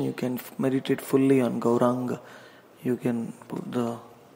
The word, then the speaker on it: Gauranga: First syllable is Gau, second syllable is Ra, third syllable is Ang, this one, Ang, this and this combined, Ang, and the last is Ga, which is down.